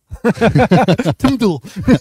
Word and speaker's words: TMDL: space tmdl and yeah how do you pronounce that tmdl timle timle yeah for short all right well talking